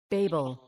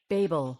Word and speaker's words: Babel: Babel, Babel, 신기하죠? 어, 그렇답니다. 그래서 혹시 여러분들 혹시 외국 나가서 바벨 얘기하고 싶은데 바벨이라고 했더니 바벨이 뭐예요? 막 이러면 베이블, 베이블 하면 된답니다.